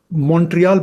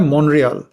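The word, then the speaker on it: Montréal: होते हैं उनको मैंने सुना है टी को साइलेंट करते हुए बड़ा जटिल होता है मॉन्ट्रियल। तो खैर वो स्थानीय है, वो बोल सकते हैं।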